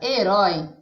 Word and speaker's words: herói: Na palavra herói, a sílaba mais forte é o rói.